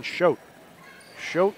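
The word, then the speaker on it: Choat: boydd now a Lauren SCH sh is spelled c h o a t but it's sounds like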